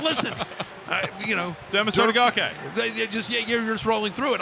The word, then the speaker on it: Derma Sotogake: I'd say it without emphasizing every single syllable because you know that you might not say it right. That's right. Listen, Derma Sotogake.